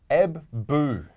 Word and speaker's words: Ebbw: He's given us the pronunciation this week. Thank you, Stu. It's Ebbu.